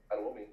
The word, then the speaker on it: Adewumi: How do you pronounce his name? Adewumi? Adewumi, yeah.